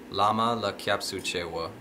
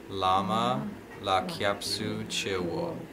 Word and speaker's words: Lama la kyab su chi wo: So the way that it's pronounced here is Lama la Kyab Suchewa, Sangye la Kyab Suche, Chö la Kyab Suchewa, Gendün la Kyab Suche.